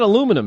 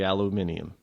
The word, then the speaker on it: aluminium: you're kind of snoody but that's it's not aluminum it's it is really aluminium because it's titanium it's not you know it's